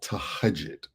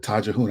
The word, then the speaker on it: tahajjud: And Amina Roche talked about something called tahajjud. I called it tajahun. I didn't know how to pronounce it. So tahajjud. Tahajjud, yes.